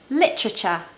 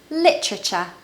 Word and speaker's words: literature: to know is that words ending with t-u-r-e like culture the sound is cha cha now anyone can